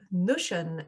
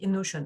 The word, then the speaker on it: Notion: qui n'est autre que Notion. Et oui, notion ou notion he mais c'est moi que je le prononce à l'anglaise.